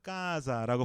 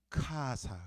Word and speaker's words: casa: 근데 이분들이 다 미국 사람들이다 보니까 제가 노래하면서 까자라고 발음을 하면은 대번에 뭐라고 하냐? 준일 그거 틀렸어 라고 말해요. 너 그거 틀렸어. 왜 틀려? 까자 그랬더니 틀렸어. 그럼 뭐야? 그러면 이 사람들 하는 말은 카사 그래. 카사. 자기네 영어식 발음인 거. C니까 카가 맞죠? 이 친구들한테. 카사지 어떻게 까사라고 할 수 있냐는 거예요. 그러면 저는 정확히 이태리 발음이 어떤지를 알면서 이분들이 알려주는 미국식 이태리 발음을 배워야 되는 거예요.